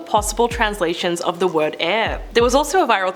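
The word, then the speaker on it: Aire: that it was actually pronounced the same way as the element.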